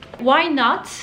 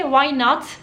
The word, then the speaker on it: why not: kapıyı abone neden olması White ben okumadım farkındaysanız tekrardan telaffuz olayına geldik Amerikan ingilizcesinde Tenin okumadı çok fazla durum oluyor Yine o durumlardan bir tanesi Ama sorun değil White şeklinde söyleyebilirsiniz Ama isterseniz oyna çekimlerde